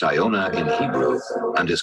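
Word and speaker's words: יונה: name as the prophet jonah for what is pronounced iona in hebrew and is called columba in latin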